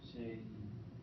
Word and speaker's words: Shay: It's Shay. It's 2 syllables. Shay.